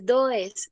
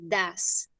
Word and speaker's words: does: No se dice does, se dice das.